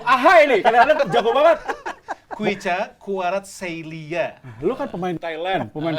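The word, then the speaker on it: Khvicha Kvaratskhelia: Kuicha Kvaratskhelia. Lu kan pemain Thailand, pemain Vietnam, Laos, lu hafal kan? Gimana bacanya coba nih? Itu tadi Kuicha Kvaratskhelia. Nah, itulah pokoknya ya. Pokoknya V itu dibacanya W.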